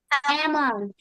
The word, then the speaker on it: almond: Almond. Amount. Almond. Amount. Why it is almond? Who can tell me? The L is silent.